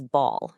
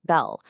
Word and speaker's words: Baal: So, this figure is Ball. You might also hear it pronounced Belle.